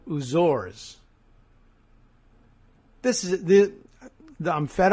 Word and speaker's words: Azores: the middle of it says he hears it pronounced in the UK as the oors so H that still doesn't solve the question of the that final e in there aor right I don't know anyway uh oh stress on the second syllable uzor this is the I'm